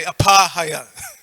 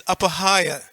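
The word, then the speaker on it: apahāya: Like the third word, apahaya, we tend to say apahaya. It's apahaya.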